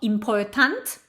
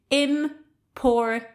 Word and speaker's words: important: So, it's not important, okay? But im-por-tint. And by the way, in the British variety, we don't pronounce the r.